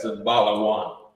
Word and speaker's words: Zabalawan: Zabalawan is how you would pronounce it in the Lashawan Qadash. Right. We would say it like that. Zabalawan.